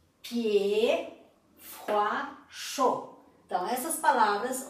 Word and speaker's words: pied: Nord, que termina com D, pied, froid, chaud. Então essas palavras, ou todas as palavras que terminam com D, não se pronuncia o D. Então, ó, nord, pied, froid, chaud.